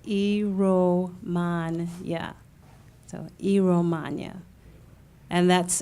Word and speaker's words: Iromuanya: it to you again first name is last name is ero mon yeah so II romagna and